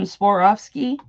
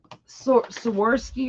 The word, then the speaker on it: Swarovski: Just like when people pronounce, like I have some Swarovski crystal earrings, and I just threw something on the floor. And everybody always says Swarovski or whatever. And I'm always like, it's Swarovski.